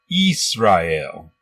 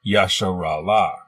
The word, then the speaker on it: Israel: In the Greek Septuagint, the name Israel was written like this and is pronounced Israel. It is not Yasharala.